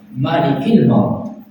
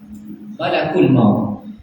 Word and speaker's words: Malakul maut: Malikil maut. Malakul maut. Bacanya malak bukan malik.